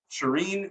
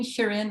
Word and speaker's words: Shirin: accent wrong part yeah people say Shireen Shirin like there's different ways to pronounce that name but I've always said Shireen I like that very